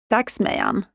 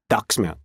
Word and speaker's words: Dagsmejan: getting up and waking up how do you pronounce it Dux Manon Dux Manon it's a it's people think it's more complicated